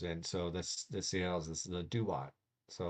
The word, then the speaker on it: Duat: Duat is pronounced Duat, appears in Tuat, or whatever.